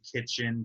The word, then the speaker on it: KTCHN: Order from Kitchen downtown LA. It's spelled KTCHN. So kitchen with none of the vowels in it.